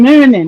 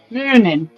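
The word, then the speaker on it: Muninn: Huggin' and muggin'. Is that how you say it? Or like we say, Hugin and Moonin. Hug them and mug them. And like a Swede say, Hugin, Moonin. I said hug them and mug them.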